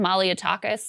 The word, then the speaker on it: Malliotakis: Malliotakis?